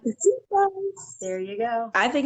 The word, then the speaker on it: Marquesitas: I like even looked up how to pronounce it. Marquesitas.